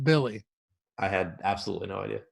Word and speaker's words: Willy: Dude, if you go to Basketball Reference, it's Willie pronounced Billy. I had absolutely no idea. No, Josh and I were calling him Willie the whole show.